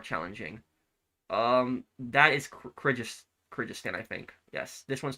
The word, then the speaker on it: Kyrgyzstan: Um that is Kyrgyz- Kyrgyzstan, I think.